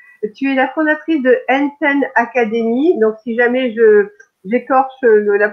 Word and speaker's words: Enten Academy: Tu es la fondatrice de Enten Academy. Donc, si jamais j'écorche la Non, prononciation c'est du fameux, parfait. donc c'est Enten Academy, donc spécialisée dans l'apprentissage et donc la linguistique.